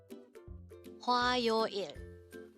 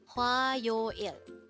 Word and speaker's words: 화요일: HWAYOIL. HWAYOIL. This is composed of 3 syllables. The first syllable is hwa, second syllable is yo, and third syllable is il.